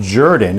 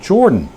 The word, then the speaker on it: Jordan: to explain to you why my last name, at least for my family, is pronounced Jordan and not Jordan.